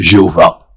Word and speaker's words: Jéhovah: Certains chrétiens ont décidé qu'ils le prononceraient Jéhovah. Alors il est à peu près certain que dans l'Antiquité on ne l'a jamais prononcé ainsi, mais après tout pourquoi